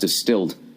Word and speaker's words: DSTLD: singer right all right distilled pronounced distilled uh offers luxury grade denim at an affordable